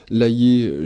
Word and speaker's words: Layet: Électroculture et énergie libre, Maxence Laillé et Roland Verlaine pour ce livre Les bienfaits de l'électricité et du magnétisme naturel pour des cultures écologiques. C'est aux éditions Le Courrier du Livre. Laillé, j'appelle le nom de famille, Layet.